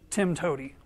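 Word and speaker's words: TIMTOWTDI: way to do it you can also pronounce it tim toady so to give an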